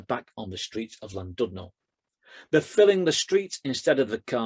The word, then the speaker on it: Llandudno: the goats who overrun Llandudno. And I wrote this poem only for then somebody to tell me that it's not pronounced Llandudno, but Llandudno.